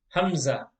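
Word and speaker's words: ء: next letter in box number 28 is called hamza say hamza this letter is called hamza and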